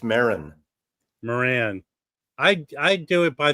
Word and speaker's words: Maron: It's Mark Moran. It's Mark Maron. It's Maron. Moran. I do it by the old English pronunciation.